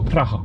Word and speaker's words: Praha: Praha. That's really nice pronouncing.